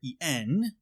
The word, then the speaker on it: Tongeren: In the Netherlands, their Grand Master, Hermanus van Tongeren, which I may be mispronouncing, and I apologize, it's Tongeren, refused to cooperate with the Nazis and would be arrested in October of 1940.